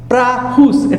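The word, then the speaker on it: praus: माटे शब्द वाप न spelling P आर ए यू एस उच्चार था प्रास प्रास के नम्र ग्रीक भाषा मूल शब्द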